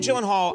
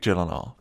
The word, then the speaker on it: Gyllenhaal: name is it not it is a Swedish name so shouldn't it be like oh my God I have and all the only two places that that is pronounced correctly my last name like you did just now is in Sweden uhuh and in Ikea Ikea so who is Jake